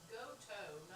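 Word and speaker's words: Gotoh: Kurt's telling you it's pronounced Goto, not Goth.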